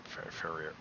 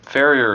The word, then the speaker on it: farrier: to the local fair uh farrier fairfare i'm not pronouncing that right no farrier is correct okay if you want